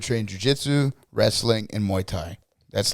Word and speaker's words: Muay Thai: about them how do you say it it's muay thai muay thai yeah i can't say that yet it's all